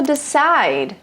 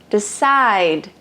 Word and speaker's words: decide: até mesmo decide decide Vejam Só que a palavra até pode terminar com uma letra Uma vogal mas ela não é pronunciada Ou seja decide não é só a letra que importa é o som daquela letra Ok de no passado decided